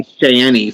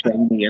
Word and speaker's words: Shaney: I always say Shanny for some reason when I know it's Shaney and I know how to say it right.